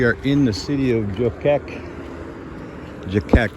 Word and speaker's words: Göcek: in the city of joke jake it's uh g o well right there g o c e k and the c in turkish is pronounced like a an english j j where the j